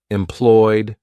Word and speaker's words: employed: now for D sounds if the verb ends in a vowel sound or a vo vibrating a voiced consonant sound we're going to pronounce Ed D with the D sound let's look at some